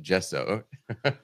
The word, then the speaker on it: Gesso: And if you read the module page, literally the second sentence is Gesso, pronounced Gesso. With JEH in capital letters.